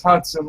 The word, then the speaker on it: Hudson: Japanese pronounce it Hudson. We pronounce it as Hudson, like the car.